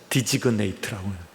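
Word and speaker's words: designate: 그래서 제가 영어다는 지시하는 디지그네이트라고, 디자인이라고 하는 것과 같은 어원인데, 여기서는 이제 쥐가 묵음이 안 되고 그대로 발음이 돼요. 그래서 디지그네이트라고.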